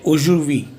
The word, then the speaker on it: aujourd'hui: So you'll say aujourd'hui. There is no need to pronounce D, because that again creates